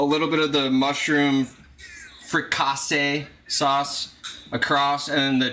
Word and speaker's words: fricassee: All right, chicken fricassee. I said it right. You guys are saying it wrong.